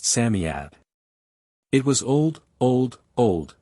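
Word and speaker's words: Psammead: Samad or sanf fairy Samad is pronounced Samad it was old old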